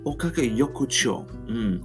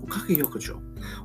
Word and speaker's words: Okage Yokocho: Okage Yokocho. Okage Yokocho.